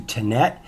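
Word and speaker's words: Tenet: changing their name to tinette i believe that's how it's pronounced t-e-n-e-t and their new ticker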